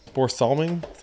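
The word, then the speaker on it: Börje Salming: a ceremony last year before he did um Bor salming that's how you pronounce it um anyways so I got a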